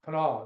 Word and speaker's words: Kanawha: firm was the headquarters, what they call the Kanawha Ring. It's a Kanawha River, which is pronounced Kanawha.